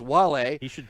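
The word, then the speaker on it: Wale: uh Ken's favorite rapper, Whale, W A L E, otherwise pronounced Wall.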